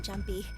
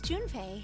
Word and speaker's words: Junpei: I just call him Jumpy. His name is Junpei.